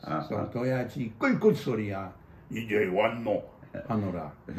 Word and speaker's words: 도야지: the word for a pig is doyaji. 3 syllables. So doyaji, good soria, 이제 왔노.